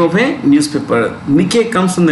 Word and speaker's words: Nikkei: index at tokyo stock exchange index is called nikkei n i k k e i okay now